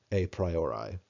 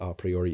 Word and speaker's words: a priori: So you can say a priori, you can say a priori, it doesn't matter. It's a corruption of a dead language. So those are both pronunciations that are, reasonable, and I've heard people say either of those.